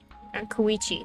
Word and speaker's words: Koichi: Koichi, that's how you say it.